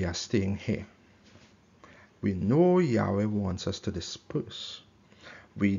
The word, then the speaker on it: Yahweh: it's the tetragrammaton yard hey Fav he it's pronounced so you'll hear me say Yahweh and so some translations you may see it